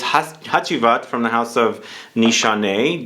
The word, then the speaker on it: Hacivat: I should say HACIVAT. It's actually HACIVAT. I grew up with Turkish grandparents, so I think that's how you say it in Turkish.